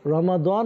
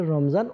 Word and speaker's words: রমজান: বলি এটার কারণ কি আরবিতে রমাদান হয় আর বাংলাতে আমরা এটাকে রমজান উচ্চারণ করি তো আমরা জানলাম আমরা